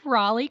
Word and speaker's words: Raleigh: Yes, you said Raleigh correctly.